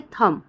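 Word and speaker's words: thumb: वैसे ही होता है थम थम मतलब अंगूठा थम में भी ब का उच्चारण नहीं हो रहा है डम मतलब पागल टाइप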